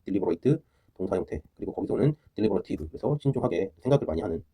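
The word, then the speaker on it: deliberative: 딜리버러 딜리버러티 그냥 딜리버 딜리버 발음으로 구별하셔도 되고 그냥 여기가 딜리 딜리버러티브 할 거냐 딜리바로티브 요즘에 영국식 발음도 많이 하니까 딜리바로티브 이게 되게 신중한 거죠 신중하고 신중하게 또 되게 수고하고 그런 뜻입니다.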